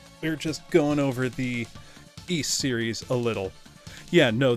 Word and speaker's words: Ys: series name it is East so think of like the word geese without the G just ease in Japanese it's issu